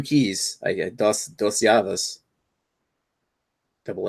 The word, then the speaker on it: Llaves: Dos Llaves. Double L. I learned something new today with the double L is pronounced as a Y in Spanish.